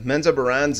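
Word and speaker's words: Menzoberranzan: And of course, the Menza Barans and Renegade. That's how you pronounce it, believe me.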